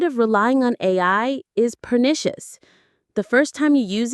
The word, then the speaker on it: pernicious: Let's try the pronunciation. Pernicious. Pernicious. That stress is right in the middle. Pernitious. Try it. Pernicious.